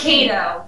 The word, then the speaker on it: Kadow: It's Kadow. Okay. You know, it's the potato conundrum.